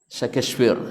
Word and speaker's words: Shakespeare: Syekh The First cowoknya Enggak ah DC kefir bacanya Yang benar Shakespeare gitu ya Nah seorang penyair Pujangga Amerika kenapa